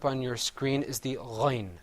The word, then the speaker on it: غين: letter coming up on your screen is the ghain sound. And you see the difference between the ghain and the ayn is that the ghain has a dot on top of it. So let's say ghain.